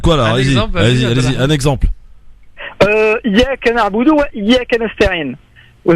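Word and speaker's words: إياك: Iyyaka na'budu wa iyyaka nasta'in. Vous avez pas mal de personnes qui ne prononcent pas la lettre forte. Donc appuyez donc le Y, ce qui fait que ça change totalement la phrase.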